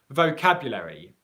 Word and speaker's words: vocabulary: And he's asked, how do we pronounce the word vocabulary? Okay, and that's a good question. And Antonio's question is, there's a schwa sound in vocabulary, and he's saying, should we pronounce it? So you can.